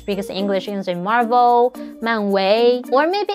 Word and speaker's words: 漫威: In mainland China, Marvel is translated as 漫威, the first tone, the flat tone, but he pronounced it as 非常非常感谢漫威,漫威, which is the second tone, the rising tone.